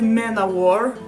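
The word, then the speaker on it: Manowar: the World by manovar I know very well that manavari is actually Men of War that's how everyone pronounces it I say manavari because it sounds to a Russian word samavar it means self-boiling cattle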